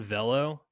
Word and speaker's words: Velo: There's a guy, I didn't know this player, Kevin Velo, VEL-LOH, in parentheses, rhymes with Jello.